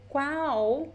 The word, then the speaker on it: qual: Qual é o seu nome? Qual é o seu nome? So the qual, the L, sounds like U, sounds like a very weak U.